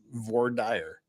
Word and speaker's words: voir dire: I've corrected your mistaken pronunciation. It is voir dire.